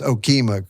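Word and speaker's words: Okemah: Yes, in Okima, yeah. Yeah, so it's pronounced Okima, correct?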